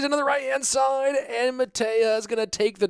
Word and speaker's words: Mateja: But, Mateja is pronounced Mateja. Mateja. Am I pronouncing the "h" too hard?